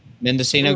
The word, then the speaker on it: Mendocino: Mendocino County.